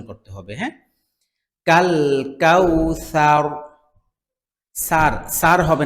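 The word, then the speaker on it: الكوثر: একই জায়গা থেকে হয় জিহ্বার আগা সামনের উপরে দুই দাঁতের আগা থেকে জাল এবং ছা দুইটাই উচ্চারিত হয় পাতলা তুলার মত নরম পাতলা ভাবে উচ্চারণ করতে হবে হ্যাঁ কাল কাউসার সার সার হবে না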